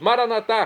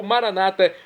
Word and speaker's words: Maranatá: E agora eu clamo do aramaico dialeto de Jesus, Maranatá, como dizemos nós católicos, ou Maranata, como dizem nossos irmãos separados. Não importa a pronúncia, o significado é o mesmo.